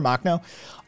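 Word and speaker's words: Makhno: uh ukraine uh nestor mock um that's not how you're supposed to say his name i don't think you correct ukrainian pronunciation cats corrected me on the correct ukrainian pronunciation but nestor machno um on a macdover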